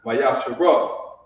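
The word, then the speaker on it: מעשר: The book of Malachi, chapter 3, verse 8 through 10, means 10th in the Hebrew, which is pronounced Mayasharah.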